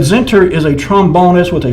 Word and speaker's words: Zentner: Didn't pronounce the name of the band. It was actually Zenter, the Zenter, Z-E-N-T-N-E-R.